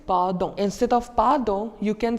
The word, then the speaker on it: pardon: So the spelling in French remains the same, but the pronunciation differs. It's pardon.